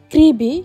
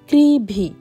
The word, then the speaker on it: Crovie: রাখি এটার নাম হচ্ছে ক্রিবি। কিন্তু ভিডিওতে দেখবেন আমি প্রত্যেকটা সময় ভুল উচ্চারণ করেছি। যদিও এটার উচ্চারণ হচ্ছে সি আর ওভি আই করবি উচ্চারণ হয় কিন্তু এটা গ্রামের লোকজন এটাকে বলে ক্রিভি।